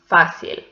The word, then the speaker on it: fácil: The first one is fácil. So this one belongs to llanas because the stressed syllable is the penultimate one.